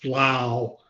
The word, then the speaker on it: Lau: Ward was reading the names of our athletes who were succeeding, she mispronounced the name of Brandon, and Brandon's last name is Lau, as in wow.